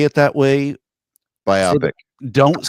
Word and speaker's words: biopic: Is it like myopic? It's not it's biopic. It's a biopic. It's a bio picture, biographical picture. Yes. Will you please say it that way? Biopic.